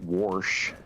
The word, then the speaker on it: wash: was from Ohio and she would pronounce was warsh still happens there there's an invisible AR y are the same